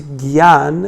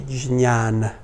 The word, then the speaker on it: jnana: Or sometimes they say it's jnana and it's vijnana. If you study Sanskrit and Sanskrit letters, then you will understand that for proper pronunciation purposes, it's better to say jnana, because that's how it's written. It's a compound letter. Anyway, and when you're in Bengal, then people will say gyan, because that's how they.